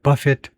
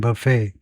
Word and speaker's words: buffet: 근데 발음이요. buffet 앞에입니다. buffet 먹는 거. 명사는 뒤에 액센트가 있고 buffet. 명사는 buffet. 동사는 buffet. 이렇게요.